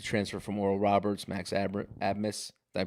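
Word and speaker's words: Abmas: they've got the transfer from Oral Roberts Max AB admus did I pronounce that right I'm agreeing with you yes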